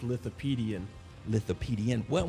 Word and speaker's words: Lithopaedion: way to pronounce it it sounds like Wikipedia but it's little PD and with the PD and